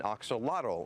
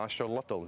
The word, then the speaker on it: axolotl: There's another very popular animal here called an axolotl or an axolotl, depending how you want to pronounce it, that also is in that neotenic state.